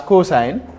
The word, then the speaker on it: cos: Then the other one is cosine, is also abbreviated as cos, COS, but pronounced as cosine.